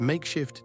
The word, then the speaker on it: MKSHF: Welcome to MKSHF TV, pronounced makeshift TV because vowels are a luxury in this economy.